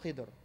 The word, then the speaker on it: Khadr: Khadr, who's also called Khidr. But it's rightful. His rightful name is Khadr. That's what the Prophet ﷺ pronounced it in the hadith.